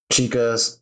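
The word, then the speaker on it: Chika: that album if you have not listened to chica's Samson album and it's spelled chica c h i Ka album It's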